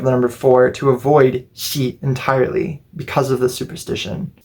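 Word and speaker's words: 四: youri your oi or your Chinese reading is pronounced she the way that you say is also she sometimes also read as shini but not even just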